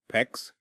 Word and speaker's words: PEX: When water freezes inside a pipe, it expands with incredible force, enough to split copper, PEX, rhymes with flex, or even steel.